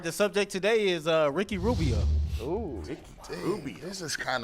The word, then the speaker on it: Rubio: I said, stop rolling your tongue when you say his name around me like that. Yeah. It's Rubio, not Rubio.